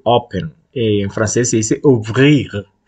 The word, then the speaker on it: ouvrir: El problema del francés es que La R no se pronuncia igual que en español. Se llama R uvular. Se pronuncia. Entonces, nosotros decimos abrir con la lengua hacia adelante. Pero en francés se dice ouvrir. Ouvrir. Es con la lengua un poco más para atrás.